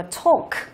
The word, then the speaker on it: talk: Và phương án D của chúng ta ở đây đọc là talk. À, như vậy là chữ A ở đây đọc là âm O, talk.